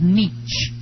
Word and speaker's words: niche: More people are now pronouncing niche as neesh.